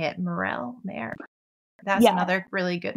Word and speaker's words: Merrell: Merrell? Merrell. That's another really good one. Yeah, I think it's Merrell. Yeah. It's Merrell.